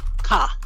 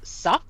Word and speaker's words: ça: Without the squiggly, CA would be ka, which we don't want here. It is sa.